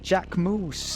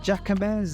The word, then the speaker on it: Jacquemus: We mispronounce, and when I say we, I mispronounce Jacquemus. I call it Jacamez and every other reiteration, but I did admire their latest social first campaigns.